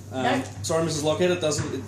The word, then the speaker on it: Loughhead: Loughhead. Loughhead. Nothing like it's spelled. Nope. Sorry, Mrs. Loughhead, it's not spelled that way.